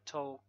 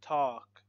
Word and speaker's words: talk: like these words talk so we don't say to no talk no we don't say that we say talk remove L walk y half cough